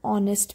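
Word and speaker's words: honest: की आ रही है एन ऑनेस्ट पर्सन यहां पर भी एच साइलेंट है और जो साउंड है वो ओ की आ रही है an interesting story N umbrella.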